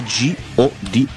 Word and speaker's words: G.O.D.: tanti sinceramente Tra l'altro non è God ma è g o di sì si scrive come fosse un acronimo Quindi con i puntini Però si pronuncia God In ogni caso Ok